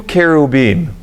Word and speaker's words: kerubim: the angels are called they're two kerubim were what in Modern English has become cherub but I like the Hebrew prononciation better because kerubim are the